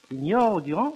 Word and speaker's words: Sinjoro: Sinjoro Durand il ne faut pas oublier l’accent tonique non plus, toujours sur l’avant-dernière syllabe : « Sinjoro Durand vendas sian aŭtomobilon ».